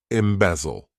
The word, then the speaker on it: embezzle: Embezzle. To embezzle, this verb has 3 syllables, and the stress is on that second syllable.